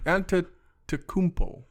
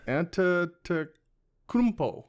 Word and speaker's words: Antetokounmpo: So you can pronounce the freak's last name. Antetokounmpo.